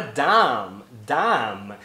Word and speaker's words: dumb: Você vê a escrita, você acha que tem a letra na pronúncia e você acaba ouvindo, seus ouvidos te enganam. Então você ouve dumb, mas ele não está pronunciando.